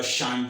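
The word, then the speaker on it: sinh: So, this is actually Besides the normal pronunciation which you heard, uh shine, this it really means hyperbolic sine.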